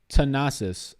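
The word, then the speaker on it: Thanasis: It's pronounced Tanasis.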